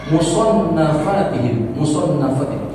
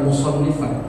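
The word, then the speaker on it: مصنفاتهم: as-salafus shalih yuhibbuna iftitaha musannafatihim. Jadi bacanya bukan musannifan. Dibacanya isim maf'ul sama lagi. Kenapa kok musannafatihim Ustaz? Musannafatihim. Dia tadi dia jadi mudhaf ilaih. Kalau dibaca musannifat yang mengarang. Kalau musannaf yang dikarang.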